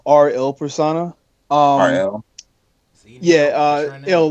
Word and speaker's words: R:IL Persona: is cereal it's pronounced RL persona RL yeah they'll like the Italian word for the it's a the name